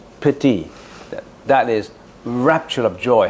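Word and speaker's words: pīti: a a Sanskrit word p i TI pronounce it pity that is Rapture of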